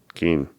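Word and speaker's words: Cian: I want to say it's Caian. A lot of times in Irish, that's a hard C. Right, so that's what I thought. Keen.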